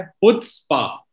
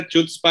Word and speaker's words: Chutzpah: सबसे पहले शो का नाम है हुत्स्पा. ये तो मुझे पता ही नहीं था. हुत्स्पा है. नहीं, अक्सर लोगों को नहीं पता क्योंकि सबको लगता है चुत्स्पा है, लेकिन सी साइलेंट है.